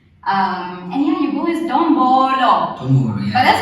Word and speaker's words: Dombolo: Gqeberha clever sekamba, but those who love me call me D to the O, M to the B O, and L to the O. That is pronounced as Dombolo.